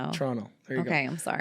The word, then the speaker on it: Toronto: Whenever you Toronto, we don't pronounce the second T. Toronto. Toronto.